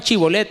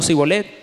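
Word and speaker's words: shibboleth: Porque dice la Biblia que ellos pronunciaban Chibolet, no Sibolet.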